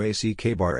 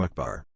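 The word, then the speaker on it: أكبر: It's not pronounced like all, but closer to ul. Same goes for Akbar. If you ACK-bar it, you screwed up. Closer to Akbar.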